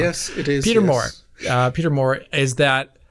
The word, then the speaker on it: Peter Moore: Peter Moore.